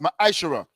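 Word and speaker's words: מעשר: Malachi 8 38-10 means tenth in the in the Hebrew which is pronounced maishara.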